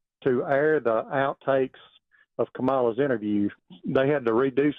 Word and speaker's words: Kamala: It's Kamala. Okay. It's Kamala Harris. Kamala. Yeah, Hey. and everybody knows you're mispronouncing her name because there's some deep-seated hate for her.